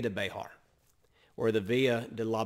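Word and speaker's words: Béxar: example would the be the via de bejar b-e-x-a-r b-e-x-a-r actually you would see it in spanish b-e-j-a-r but for us if you think of bear county that's what we're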